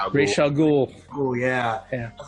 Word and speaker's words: Ra's al Ghul: Ra's al Ghul.